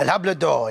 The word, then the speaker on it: El Hablador: Now, it's called El Hablador. El Hablador, It yes. rhymes with Labrador, that's how I remember it.